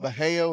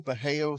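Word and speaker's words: Bajio: Um, but they're called Beeo. It's spelled B A J I O. Beeo sunglasses.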